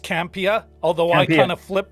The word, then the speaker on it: Campea: quick watch so yeah so first it is pronounced campia although i kind of flip between the two